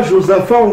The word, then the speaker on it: Josaphat: la vallée de josaphat comment on va prononcer josaphat seneca josafa prononcé il ya aussi fa